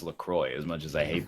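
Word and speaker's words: LaCroix: water or bottled lroy oh my God it's pronounced lacrosse it's actually pronounced lacroy as much as I hate to admit it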